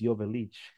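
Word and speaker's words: Joveljic: Dejan Jovelic, by the way, that's how we pronounce his name correctly. It's Jovelic.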